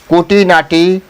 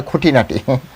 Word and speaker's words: কুটিনাটি: প্রেম বিবর্ত গ্রন্থে বলেছে কুটিনাটি পরিহারী মন করহ সরল হ্যা কুটিনাটি পরিহারী মন করহ সরল অর্থাৎ কুটি অনেকে উচ্চারণ করে খুটিনাটি কিন্তু আসলে সেখানে শব্দ এভাবে লেখা আছে যে কুটি নাটি কু মানে হচ্ছে মানে